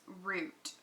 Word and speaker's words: route: how do you pronounce route well the thing is that this route is spelled like the road route so it's like our Oh ute but I pronounce it like the tree root because I think I